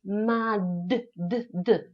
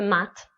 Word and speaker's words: mad: wymowa miśki jest tak Jeżeli na końcu słówka mamy głoskę dźwięczną takiego taką jakby The musimy powiedzieć madde bo jeżeli my powiemy Mat tak jakbyśmy to po polsku zrobili No bo my po